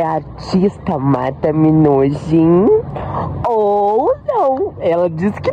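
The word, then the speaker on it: Marta Minujín: Porque eu perguntei, Marta Minujin. E Minujin é o jeito que se escreve. O jeito que se pronuncia é Marta Minujin.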